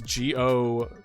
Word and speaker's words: Godot: Yeah, it's Godot. Technically, that's why I kind of knew what you're talking about, because you spell it the way it sounds.